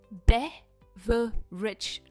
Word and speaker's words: beverage: हमारा next word है बेवरेज। बेवरेज, बे पर इसका स्ट्रेस है।